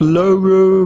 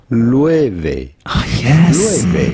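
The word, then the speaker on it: Loewe: founded in 1846 how do you go about pronouncing this name it's not logo but rather L yes I'm so glad I feel more informed now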